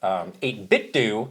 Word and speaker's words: 8BitDo: I also had, in our accessories video, we were saying, in our conversation with 8BitDo, and that's how you pronounce it, don't come at me.